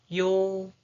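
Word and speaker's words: ㅛ: Okay, the next one is yo, yo, yo. The pronunciation is yo, yo, yo, yo, yo, yo, yo, yo.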